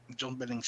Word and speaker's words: John Billingsley: His actor, I believe it's John Billingsley. Am I pronouncing that right? Yep, John Billingsley.